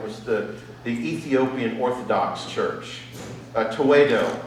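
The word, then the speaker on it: Tewahedo: Tewedo, I think, is the correct pronunciation amongst the Ethiopians of their church.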